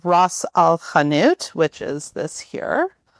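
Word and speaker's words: ras el hanout: Another one is called Ross Alanut, which is this here. How do you spell that?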